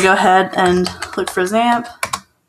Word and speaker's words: XAMPP: we're going to go ahead and look for zamp spelled like that um click on it download for